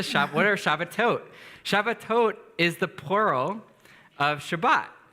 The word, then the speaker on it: Shabbatot: what are shabat to shabbatot is the plural of Shabbat so it's like saying Shabbat but shabbatot is the correct way to say it in Hebrew so we'll have